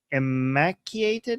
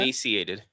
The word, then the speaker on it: emaciated: So fact checks confirmed that many severely immaculated is that how you pronounce that? Emaciated. Emaciated. Oh, emaciated.